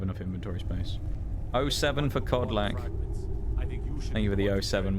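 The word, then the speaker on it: Kodlak: to cleanse his soul codl with a k at the start k o d l a k I believe it's how you pronounce his name but codl or an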